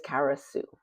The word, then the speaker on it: Kara Sue: So, my name is Kara Sue, and as you can imagine, because Sue rhymes with you, I would get all